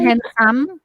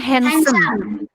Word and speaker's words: handsome: Bacanya bukan handsome. Bacanya handsome. Bukan handsome.